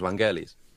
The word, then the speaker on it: Vangelis: A better question: where's the accent? Where's the stress on? Is it Vangelis? Vangelis? Vangelis? I think it's just it's penultimate syllable. Yeah, I think it's all equal. So it's Vangelis. Typical Greek sort of stuff. It would be all sort of equal.